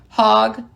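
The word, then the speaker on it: Hague: in in parentheses under terms of the 1961 hog convention h a g u e I swear that's how you pronounce it Archbishop in the Roman Catholic faith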